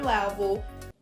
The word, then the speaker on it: level: It's not level. We cannot use the A sound like black cat. We need to use the E sound like red and 10. It's more closed.